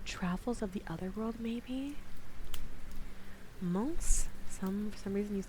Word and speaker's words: Mons: Mons? For some reason you like saying like Mons, but Mons? You say the S? Ugh, French, please. French, please. The S is prononcé.